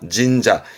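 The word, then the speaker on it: 神社: 진자. 이때 발음은 진이에요. 흔히 기본은 신이기 때문에 진은 요것만 챙기시면 되셔요.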